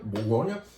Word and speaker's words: Bourgogne: Bourgogne is how the French more correctly say Burgundy. So we anglicized the word Bourgogne because we refused to attempt to pronounce it.